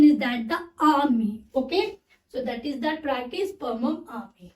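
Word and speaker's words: ammi: बहुत से बच्चे इसको एमी प्रोनाउंशिएट करते हैं, but Ami, it is not a correct pronunciation. The correct pronunciation is that the army.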